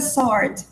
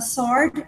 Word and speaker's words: sword: It's a sword. A knife is short. A sword is long. Okay? Repeat, please. It's a sword. It's a sword. Sword. Sword. Sword. Yeah. Sword. You don't pronounce the W.